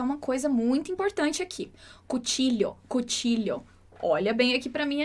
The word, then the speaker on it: cuchillo: E o último é com esse som de LH. Mas eu quero te chamar a atenção para uma coisa muito importante aqui. Cuchillo.